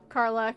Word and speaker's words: Karlach: Yeah, Karlach.